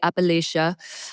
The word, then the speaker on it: Appalachia: And Appalachia, sorry, I say it like the South, we can say Appalachia.